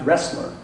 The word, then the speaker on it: Roesler: with the fact that my name is pronounced wrestler.